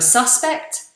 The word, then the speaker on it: suspect: so a suspect suspect notice the slight difference in pronunciation a suspect he is a suspect she is a suspect suspect and then as a verb I suspect you I suspect you suspect suspect I make that first vowel when I make